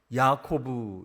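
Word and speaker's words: יעקב: 야곱은 야코브 이렇게 발음하고 씨름은 아바크 이렇게 발음합니다.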